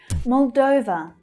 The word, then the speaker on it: Moldova: Moldova, Moldova. So we've got two letter O's here, but they're pronounced differently. The main stress in the second syllable is pronounced as O, like the verb go.